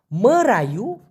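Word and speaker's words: merayu: এখানে একটু ঘুটছে অনেকে হয়তোবা বুঝতে পারবে না মারা ইউ এম ই আর এ মরা ওয়াই ইউ মারা ইউ উচ্চারণটা হবে মারা ই দিয়ে রসু দিতে পারেন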